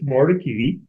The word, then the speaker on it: Mordecai: also, by the way, I've mispronounced it a couple times, and my helpful staff slipped this in the door to remind me it's Mordecai, and they're not my staff, the people, my colleagues.